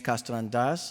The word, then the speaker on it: Castellandas: From our IT department, we have Director James Castellandas, as we Greeks would pronounce it properly, and Angel Vivanco.